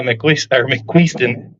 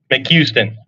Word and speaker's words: McQueston: All right, next up is going to be Marcella McQueeston. Is that how you say it? McQueston. I said it right yesterday, and I knew I butchered it there.